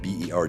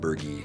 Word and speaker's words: Berge: So, my last name is Bergie. Berg G- E. It's pronounced Bergie. Most people say it's Burge or Berg.